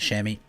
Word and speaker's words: chamois: shami okay so uh chamois is the the proper name for them i'm not french i could be pronouncing it slightly wrong you get the idea and everyone in new zealand calls them shammy so you'll hear me refer to them as shammy um and then we